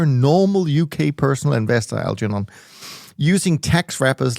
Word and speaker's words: Algernon: All right, then we have a question from Algernond. I'm not sure I'm pronouncing that right, but anyways. So this is one of those very old-fashioned British names that I think you should pronounce it Algernond.